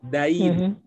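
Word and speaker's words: دين: yang beda gitu ya kalau agama Din Ya kalau hutang itu Dain ya agama apa samaainang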